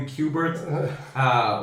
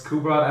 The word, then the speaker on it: Kubrat: above and below me, they'd mispronounced the name, but once they found out how you'd say my name, they just kind of stuck with it and called me Qbert when it's Kubrat, and it's an ongoing